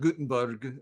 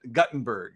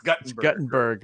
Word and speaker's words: Guttenberg: know good little town of guttenberg right not gutenberg but guttenberg if you're from iowa you got to pronounce it correctly it's guttenberg are there two t's in it uh just